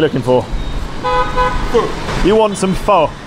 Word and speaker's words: Pho: You want some pho? Pho, foo. They pronounce it foo.